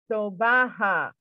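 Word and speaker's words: sobha: now write this down s-o-b-h-a is pronounced in a three sybil as so ha sobaha okay so that's kind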